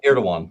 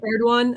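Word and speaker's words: Erdoğan: I don't know how to pronounce his name. Erdogan or Erdogan. Erdogan. Yep. Erdogan.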